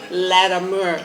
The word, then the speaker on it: Latimer: I say Latimer, and I better not mess up. She's forewarned me, Latimer. Am I saying it right now? Yes. Okay. Mer. Make sure I understand. Mer. You all got it? Mer.